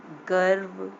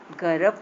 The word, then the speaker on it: गर्व: पूरा र तो उच्चारण हो नहीं रहा, देखिए शर्म, गर्व, है ना। गर्व तो हम लोग पढ़ नहीं रहे हैं, जब ये र पूरा होता तो हम लोग को पढ़ना होता गर्व, लेकिन ऐसे बोल रहे हैं ना, ये आधा र है, गर्व, बाद वाले अक्षर